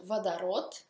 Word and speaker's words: водород: Si pronuncia vodород, ma si scrive водород.